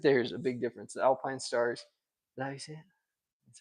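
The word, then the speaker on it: Alpinestars: I think that there's a big difference the Alpine stars that you see it that's how you say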